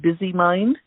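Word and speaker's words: BZmind: m i n d so you could pronounce that byy mind bzm nd.ca excellent final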